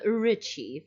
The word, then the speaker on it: Ricci: I'm 98% sure that it was Christina Ricci or Ritchie. How do you say that? Ritchie for pronunciation. Yeah. At least what I've heard.